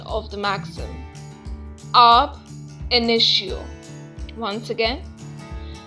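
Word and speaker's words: ab initio: void from the beginning let us understand the pronunciation of the maxim up initio once again up initio the second maxim is actionable per se it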